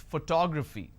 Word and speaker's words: photography: I pronounce this as photography. How do I pronounce? Photography. And how many syllables do I have here? Photography. 4 syllables. But in this case, I stress on the second syllable.